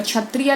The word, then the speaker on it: क्षत्रिय: अब देखिए शुद्ध उच्चारण और अशुद्ध उच्चारण, अगर क्षत्रिय लिखते हो तो सही, क्षत्रिय बोलते हो तो सही, अक्षत्रिय बोलते हो तो गलत।